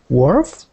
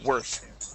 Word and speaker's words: worth: word here uh let's practice the th ending worth worth uhhuh worth with a th there worth worth Okay I uh